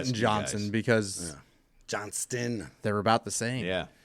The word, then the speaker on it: Johnston: because Johnston, they're about the same. Yeah. There's a T in there. and it's not silent. Quintin. Johnston.